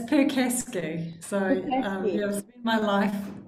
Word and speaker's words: Percasky: It's Percasky. So I've spent my life either spelling it or telling people how to pronounce it.